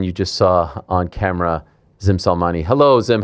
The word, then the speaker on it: Gzim Selmani: Here he is, the man you just saw on camera, Gzim Selmani.